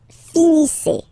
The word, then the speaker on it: finissez: Vous finissez. Vous finissez. Okay, a Z at the end gives you the sound E. Okay, finissez, finissez.